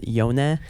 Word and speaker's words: Jonah: We like- usually pronounce Jonah's name as Yone.